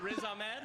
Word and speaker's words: Riz Ahmed: Closer, Riz Ahmed.